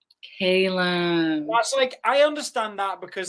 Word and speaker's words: Calum: Today we have Calum Scott on the show, and you may recognize him from Britain's Got Talent.